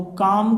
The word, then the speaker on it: calm: शांति की बात करें तो देखिए यहाँ पे CALM, तो काम का मतलब होता है, एल साइलेंट है यहाँ पे, काम का मतलब होता है शांति, ठीक है ना।